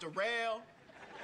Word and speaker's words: Darrell: It's spelled like Daryl, but it's pronounced Darrell.